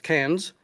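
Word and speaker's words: Cairns: Beach, and then finally Kairens, which they of course they pronounce cans incorrectly to my way of thinking.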